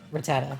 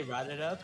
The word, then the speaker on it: Rattata: you say rabbit uh rattata i used to say rotted up because i couldn't pronounce words properly uh but it is frittata it's from tata all right guys do